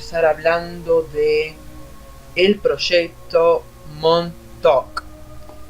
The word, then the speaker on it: Montauk: hablando de el proyecto monto monto escrito pero pronunciamos mundo qué significa esto acá